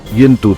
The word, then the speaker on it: यंतु: भारत के लिए सही उच्चारण यंतु था।